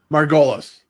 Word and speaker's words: Margolis: it I love it so now the correct pronunciation of your last name Margolis Margolis hey fantastic Arielle Margolis so Ariel thank you